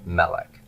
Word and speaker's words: melech: for our pattern and succulent nouns are committed to first syllable stress stress on Route one on the first syllable Melik now what we want